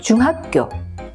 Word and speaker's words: 중학교: 귀찮은 일이에요 이것 역시 예를 들면 중학교네 학자가 중간에 와 있죠 그런데 보통은 너 어느 중학교나 하니 중학교라고 발음합니다 비교해 보실까요 중학교 중학교 중학교 중학교